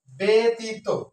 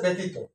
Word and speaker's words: ব্যতীত: ব এর সাথে এখানে উচ্চারণটা হবে বেতীত বকার হবে আর রসকার থাকুক আর দীর্ঘকার থাকুক উচ্চারণ লিখতে হবে রসকার বেতি না বেত সঠিক উচ্চারণ হচ্ছে ব্যতীত তৃতীয় শব্দটি আছে তৃতীয়